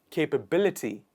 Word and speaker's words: capability: of doing it is capability capability so the stress falls in the end capability capability next one